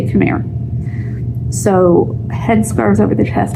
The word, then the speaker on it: khimar: It uses a khimar, or khimar is another pronunciation there.